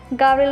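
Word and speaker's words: Gabriel: वो कहता है कि वो गाब्रिएल नहीं गैब्रिएल होगा और शायद तुम्हारे पेरेंट्स से स्पेलिंग में कोई गलती हुई होगी। गाब्रिएल कहता है कि ऐसा नहीं है, गाब्रिएल उससे डिफरेंट है और इसका मतलब होता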